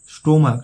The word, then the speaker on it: stomach: স্টোমাক, স্টোমাক মানে পাকস্থলী, সিএইচ এর উচ্চারণ ক হচ্ছে, তাহলে স্টোমাক্স, স্টোমাক্স, STOMACHS এস যোগ করে প্লুরাল করা হচ্ছে।